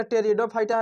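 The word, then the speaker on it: Pteridophyta: ब्रायोफाइटा टेरिडोफाइटा के टेरिडोफाइटा लेकिन एक य प्रॉब्लम है प लगा हुआ है अब बोलिएगा टेरिडोफाइटा लेन पड हो जाएगा लेकिन प जो है साइलेंट रहता है प का इसमें कोई काउंट नहीं किया जाता प उसको नहीं पता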